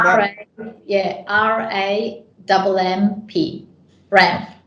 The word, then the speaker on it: RAMMP: Ramp, like ramping up.